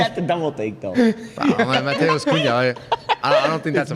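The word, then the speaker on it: Matheus Cunha: Mateus Cunha definitely deserves to be Mateus? picked. Am I saying it wrong? No, yeah, it's good. It's good. You had to double take though. Mateus Cunha.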